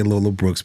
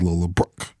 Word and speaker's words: Lola Brooke: So, Lola Brooke, let me say Lola Brooks because I said Lola Brooks and then she posted a video saying my name is Lola Brooke.